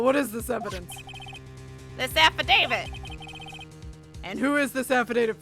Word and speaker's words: affidavit: equipment lost power because apple david it's called affidavit or at least that's how it's pronounced it that i've heard precisely they lost power